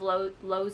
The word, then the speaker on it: Lowe: see like kind of Low's inner thoughts. I feel like I'm saying Lowe's the store, but his name is Low, and it's spelled like Lowe's the store, just without the S.